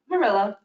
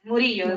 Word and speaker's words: Murillo: You said it right. It's Murillo. Okay, but you say it a different way. Oh, yes, Murillo is the way it's supposed to say.